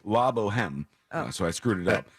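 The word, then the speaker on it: La Bohème: And he says, by the way, it's pronounced La Boheme.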